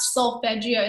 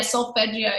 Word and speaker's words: solfeggio: But I actually cannot sleep anymore without solfeggio sounding in the background.